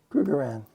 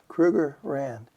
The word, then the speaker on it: Krugerrand: Krugerrand. Say that again. Krugerrand Uh it's Johan Kruger and their uh their monetary um measure is a rand. So, it's a Krugerrand.